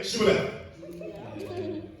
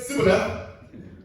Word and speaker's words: Shibboleth: If he replied no, they said, "All right, say Shibboleth." If he said Sibboleth, because he cannot pronounce the word correctly, they seized him and killed him at the falls of Jordan.